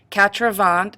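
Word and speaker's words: quatre-vingts: becomes a multiplication problem cravant with an S is how you say 80 just 80 with an S and it's linked with a hyphen and it means 42s 4 * 20 in this case the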